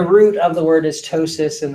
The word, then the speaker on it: ptosis: of the word is ptosis in the P in ptosis is silent however pronouncing it apoptosis